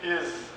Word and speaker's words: ils: La sixième particularité du français parlé, c'est le mot il au pluriel va être prononcé is.